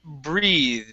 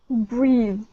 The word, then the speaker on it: breathe: next up we had breathe okay so this is a long e and a voice th with a d sound at the end okay so instead of breath it's breathe good good one more time